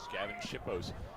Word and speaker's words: Gavin Shippos: all have been, from Gavin Shippos. Is that how you say it, Josh? That is correct. That's exactly how you say it is. Gavin Shippos scoring all 3 goals for the Big Blue.